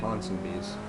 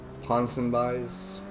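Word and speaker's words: Ponsonbys: just over here uh i believe it's a ponson bees which i actually used to mispronounce the name as like ponson buys um the thing is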